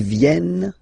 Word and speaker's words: viennent: E-N-T, you don't pronounce them. Ils viennent, elles viennent.